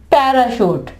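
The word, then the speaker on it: parachute: इसकी शीन की आवाज़ इसके अलावा पैराशूट पैरा शूट ठीक है ये देखें सीए पैरा शूट यहां पे ये किसकी आवाज दे रहा है शीन की सीए ये जो है चे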